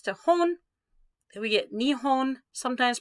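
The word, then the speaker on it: 日本: put nitsy next to hon then we get nihon sometimes pronounced nippon like a usa it'll be nip boom okay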